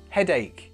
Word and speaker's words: headache: I've got a headache headache the pronunciation mistake I hear with this is head h it's not that it's headache imagine it's like a k headache now not only